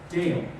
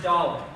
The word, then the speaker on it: Dale: And my personal favorite, Dale. It's pronounced Dollar.